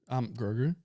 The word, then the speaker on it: Grogu: Grogu, say it right.